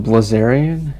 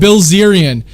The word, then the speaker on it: Bilzerian: guy named dan blizzarian dan blizzarian yeah yeah or brazilian i don't know how how you say it uh i i've heard that guy recently this is what happened bilzerian yeah so he's this